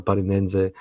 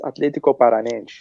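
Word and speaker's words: Athletico Paranaense: watched them, but for Parinense, he was. Say it right. It's Atlético Paranaense.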